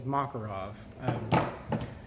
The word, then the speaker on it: Makarov: 9-millimeter Mac well I believe the correct correct pronunciation is Makarov it's it's a little bit the diameter is